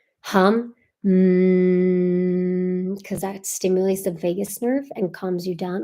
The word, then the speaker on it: Vagus: Vegas nerve. Yeah, Las Vegas. It's kind of funny. That one, it's spelled Vagus, I believe. Let me see. Vagus, vagus nerve.